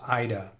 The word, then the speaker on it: Aida: correctly, exactly, it is Ida. Okay, the correct pronunciation is Ida. Thank you for that. I do like to pronounce people's names correctly. And even, let's see, AIDA is pronounced Ida.